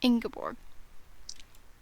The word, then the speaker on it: Ingeborg: So that's how you pronounce it. Ingeborg.